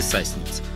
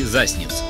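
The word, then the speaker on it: Sassnitz: Польский Свиноушье и немецкий Сасниц. Ну, так написано. Хотя правильно говорить Свиноустье и Засниц, но это смысла не меняет.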